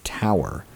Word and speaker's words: tour: about halfway through our 12-hour tour pronounced tower and we had pretty